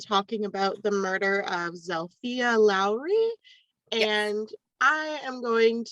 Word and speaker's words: Zilpha: is they pronounced it zalia but it's spelled z i l p ha so it kind of looks like zelfa but they call it zalia so okay sounds like